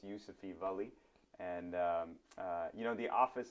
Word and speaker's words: Yusufi Vali: your viewers um and you pronounced my name really well it's yousafee valley and you know the